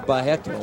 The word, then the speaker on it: Barreto: TELLIGMAN is defending well against the low kick attempts there by Carlos Barreto. Or Barreto, as they pronounce it in Brazil.